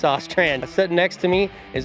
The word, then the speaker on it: Ostrand: I always want to say Orand, but I'm pretty sure it's Ostrand.